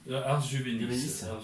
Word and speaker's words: Ars Juvenis: avec donc l'orchestre Ars Juvenis, est-ce que je prononce bien? Ars Juvenis.